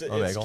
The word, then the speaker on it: Omegle: Anybody know the pronunciation? Omegle? Omegle? You want to hear about that? So it's Omegle.